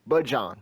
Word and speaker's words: Bijan: But this game really was the Bijan Robinson show. Or excuse me, Bijan Robinson, to say it properly.